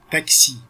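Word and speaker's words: taxi: حرف الاكس ممكن يتنطق كانه جي وجنبها اس، او كانه يتنطق كا وجنبها اس، وخدنا الاكزامبل عليهم هما الاثنين.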